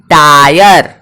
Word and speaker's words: tyre: जैसे TYRE टायर, क्या?